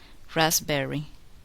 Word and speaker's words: raspberry: The letter P is silent, not pronounced. In the following words, listen and repeat each word after the speaker. Receipt, psychology, pneumonia, corpse, raspberry, cupboard, sapphire.